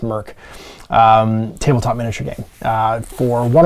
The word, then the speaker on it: Mörk: Is a open license Merkborg, I think it's pronounced Merk, tabletop miniature game for one or more player.